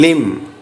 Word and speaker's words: limb: of the following words first one limb the silent letter is B second one Maline G